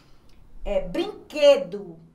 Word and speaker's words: brinquedo: Brinquedo, né? A gente pronuncia o Q, mas não pronuncia o U.